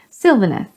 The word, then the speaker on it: Sylvaneth: Sylvaneth, like silver. The root word is sylvan, which means consisting or referring to woods.